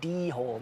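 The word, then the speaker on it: dhole: I go dole like the fruit.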